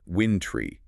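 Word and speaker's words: wintry: The challenge here is making sure that try ending does not get reduced to a schwa. It should be pronounced winintry, maintaining that clear long a sound.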